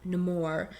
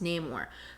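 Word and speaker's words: Namor: um one thing too we just mentioned him no more which typically I thought leading up to this his name was Neymar which it is in the comics it's pronounced name or but I thought it was so interesting that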